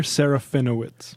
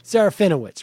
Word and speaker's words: Serafinowicz: Can you pronounce his name for me, please? Peter Serafinowicz. Serafinowicz, right.